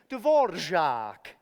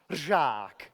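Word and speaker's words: Dvořák: So that's the R with a har check over it. That har check actually means hook. It's that little downward-facing arrow. So his name is Antonín Dvorak. Dvorak.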